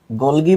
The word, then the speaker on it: গলজি: আচ্ছা, ইতোমধ্যে ফারহানা তানিয়া কমেন্ট করেছে, গোলগি বডি আর গোলজি বডি কি আলাদা? না, মোটেও আলাদা না। উচ্চারণ কেউ গোলজি করে, কেউ গোলগি করে।